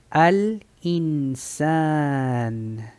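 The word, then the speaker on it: الإنسان: Lam tiene sukun, se pronuncia al. Ahora encontramos el hamza. Este aquí, pues le puse el kasra. Si no tiene el kasra, como quiera, se lee como kasra. Vamos a tener una i y la nun es una n. Aquí se va a pronunciar in. Al insan. Eso es como diciendo A-L-I-N, A-L-I-N, al-insan.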